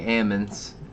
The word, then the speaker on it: almond: it's not almost well the dutch say ammons like justin van dyken